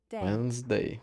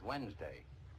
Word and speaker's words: Wednesday: Wednes, não pronunciamos o D e nem a letra E. Wednesday. Wednesday. Beleza. Wednesday. Today is Wednesday.